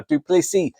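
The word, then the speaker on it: du Plessis: 185 pound title now dupy the S is silent uh is fantastic because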